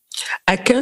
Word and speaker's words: Akin: Aquin s'écrit A-K-I-N.